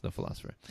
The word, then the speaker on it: The Pholosopher: el oso fph ER the philosopher but of course pronounced the philosopher so so you make